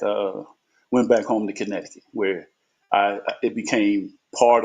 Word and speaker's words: Connecticut: however you want connect the cut I say connect the cut but we we online and I want everybody to hear the correct pronunciation Connecticut right Connecticut yes uh I did go back